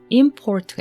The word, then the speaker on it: import: 그래서 import라고 두 번째 뒤에 이음절에다가 강세를 두면 동사가 됩니다. 그래서 수입하다, 수출 수입이죠. 수입하다가 됩니다. 근데 그거를 import라고 앞에 첫 음절을 강하게 읽으면 명사가 됩니다. suip.